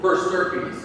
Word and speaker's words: per stirpes: Per stirpes.